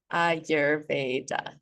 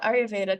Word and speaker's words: Ayurveda: Let's just start with the pronunciation. Ayurveda. Ayurveda. So Ayur translates to life. Veda translates to science. So yoga, Ayurveda, Tantra, and a couple other things are considered